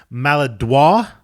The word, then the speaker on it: Maladroit: the album we're discussing is mala Dua and you will pronounce it a little bit differently I understand I will yeah maladroit for you non-french Canadians is the fourth album by